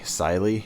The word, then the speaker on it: Cyelee: optic right here so this is made by silee at least I believe that's the way it's pronounced um it is their